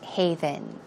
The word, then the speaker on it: haven: you're married it's kind of like a safe haven a safe haven that word don't get it